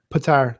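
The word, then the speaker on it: Petyr: Patar. That's how they pronounce it in the book. Like in the that's how it's not Peter, it's Patar.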